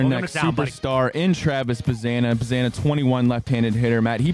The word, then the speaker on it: Bazzana: with the B stuff I get rhymes with banana I get it cool